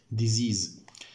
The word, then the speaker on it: disease: نخلي بالنا حرف الإس ده والإس ده بننطقوهم زد. نقوم إيه؟ زد. Disease.